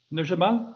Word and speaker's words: Nur Jamal: ricardo from south africa nur jamal i'm probably pronouncing your name wrong but over to you yes you are pronouncing correctly yeah thank you very much